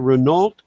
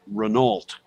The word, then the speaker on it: Renault: Yeah, and of course it became Renault very quickly because that's what it is in French.